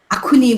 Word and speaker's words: Akhuni: with acts literally and because of the difficulties associated with pronouncing semi's ahone resulted in the generic term akuni which is spelled as akhuni which is now being